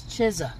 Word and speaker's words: Chizza: over here getting busy the Chisel CH chisa it's not pizza it's chisa the chesa and blackberry lemonade chesa M they got anything else interesting spicy chicken sandwiches classic chicken sandwiches chisa I guess it's going